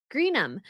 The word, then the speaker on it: Greenham: tip the hairy oh gream the H is silent in my last name like gram it's an English last